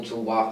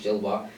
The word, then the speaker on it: Gilloise: for them because, like, Union Saint-Gilloise, or Gillois, however you pronounce it actually, I think it's Gillois, they're a Belgian team,